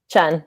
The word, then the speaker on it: Chun: Chun.